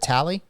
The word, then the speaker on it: Talley: for Jacob tally and that's how you pronunciate your last name right is it tally y that's correct yes sir see I knew I